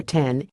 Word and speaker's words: X: the next shopper knew it was supposed to be pronounced as the number 10 but said using X was much more natural